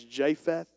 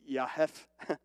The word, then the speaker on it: Japheth: you and educate you it's actually pronounced in hebrew with a y amen if you understand it is so it would be yahef that's hebrew but i'm